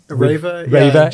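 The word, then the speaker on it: REWE: I know you're in RWE, or I think it's pronounced Raver in Germany.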